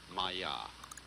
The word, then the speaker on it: Maya: Pronounced Maya.